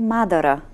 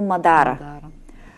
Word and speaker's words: Мадара: Правилното ударение е Мадара. Да. Но от национален ефир най-често се произнася като Мадара.